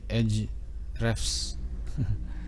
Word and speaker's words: Ahrefs: Bacanya Edge Refs.